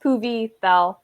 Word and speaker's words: Puvithel: By the way, my name's pronounced Puvi Thel. I know like a few prominent people mispronounce it, and now everybody keeps doing it, but so.